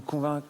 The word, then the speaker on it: convainc: c'est bien aussi convain qui me convainc en fait tu prononces pas le C si tu veux parler